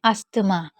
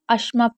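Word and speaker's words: asthma: लोग पढ़ते हैं अस्थमा जिसको हम गलत पढ़ते हैं इसमें अस्थमा में अश्मा पढ़ा जाता है क्योंकि टी एच आपका साइलेंट होता है तो अगर कभी भी आपको यह स्पेलिंग दिखे तो उसमें आपको टीटीएच को साइलेंट रखना है अस्मा का मतलब होता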